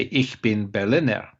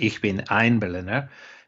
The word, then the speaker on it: ich bin Berliner: say i'm a berliner you should say ich bin berliner that's how it's said in germany it's not ich bin ein berliner because what that means in the vernacular is i am a sunday pastry sup because there's a